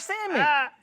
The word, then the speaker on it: salmon: move in silence like salmon. And so if you're watching this and I ain't never told y'all, the L and salmon is silent.